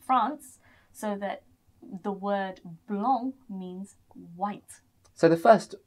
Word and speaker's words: blanc: accompanied by the word blanc on the end. And, you know, you guys might actually think that this one is pronounced blank because it does end in a C.